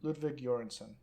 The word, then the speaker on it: Ludwig Göransson: Lud- Ludwig Göransson.